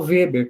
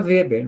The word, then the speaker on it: Weber: Então, por exemplo, o Weber, que a gente falou, né? De pronuncia Weber, mas é Weber, tá?